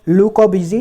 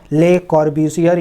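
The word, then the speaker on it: Le Corbusier: चंडीगढ़ में the architectural work of लू कॉर्ब्यूजियर, या आप प्रोनाउंस जैसे करना चाहें ले कॉर्ब्यूजियर या लू कॉर्ब्यूजियर, an outstanding contribution to modern movement.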